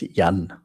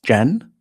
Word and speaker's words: Jan: It's Jan. Jan like um Jenny.